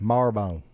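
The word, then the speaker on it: Marrowbone: It's spelled Marobone, but we call it Marbone.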